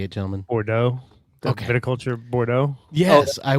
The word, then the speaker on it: Bordeaux: Bordeaux.